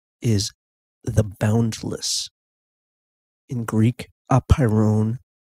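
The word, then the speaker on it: apeiron: underlying monistic substance is the boundless in Greek a pyrin spelled a PE I ro n looks like ap iron but the correct pronunciation is a pyro at any rate in English it's generally rendered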